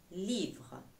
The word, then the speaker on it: livre: Un livre. Un livre. Livre. Je lis jusqu'au R. Le E me dit qu'il faut que je lise, que je prononce le R.